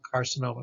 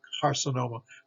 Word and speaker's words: carcinoma: k sound carcinoma carcinoma so here's a c followed by an a carcinoma carcinoma just means cancer card sonoma means overweight tumor and carcinoma is a cancer cancer it's tumor so carcinoma and hard c or that k sound colorectal here's a c